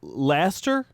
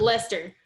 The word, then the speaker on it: Lester: bye it is uh laster it's pronounced what's that lester lester lester okay like lester holt let me uh oh